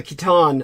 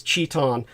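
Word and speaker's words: chitin: it's it's it's in what they call the Kiton or the skeleton which a lot of people would mispronounce as Chon or chonus uh the keton or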